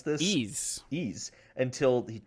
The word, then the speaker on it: Ys: So, after that, we have Ys 8, which I did not know how to pronounce this. Ys.